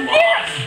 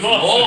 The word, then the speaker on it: Los: It's not Los. It's Los. They're the slipper booties.